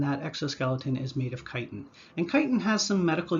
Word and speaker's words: chitin: is something known as chitin incidentally if you see CH at the beginning of a word and the word is derived from Greek it's pronounced as a hard K just something you might